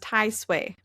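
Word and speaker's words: 太歲: So, it's pronounced Tai Suway.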